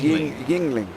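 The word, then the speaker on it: Yuengling: shots in just to It's pronounced Ying Yingling really why u in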